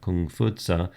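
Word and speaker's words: 孔夫子: the case of Confucianism confucious the again the Western European pronunciation of kung futa going back to this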